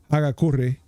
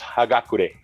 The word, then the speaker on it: Hagakure: It has, it says John Wick 4, Chapter 4, Hagakure in Japanese text.